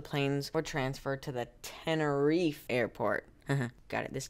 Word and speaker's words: Tenerife: fi tenor fight hey Siri how do you pronounce te and ER I II ah Tenerife this accident took place in the Canary Islands